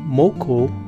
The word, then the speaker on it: Moco: for crazy so they tacked on Moco which rhyme with Loco and that sounded prettyy